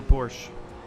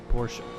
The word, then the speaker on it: Porsche: peasants such as me it is not a Porsche it is a Porsche uh a date and this Porsche uh is coming up two turn 12.